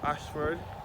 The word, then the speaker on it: Ayshford: I last visited for the innocent looking up Ashford and again this ash word is spelled a y s h f o r